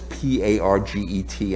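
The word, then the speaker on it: parget: to show that it's habitable what what is p-a-r-g-e-t and how do you pronounce it it's parge my boss and i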